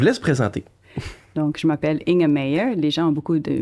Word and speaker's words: Inge Meijer: Donc, je m'appelle Inge Meyer. Les gens ont beaucoup de mal à prononcer mon nom, donc c'est Inge Meyer.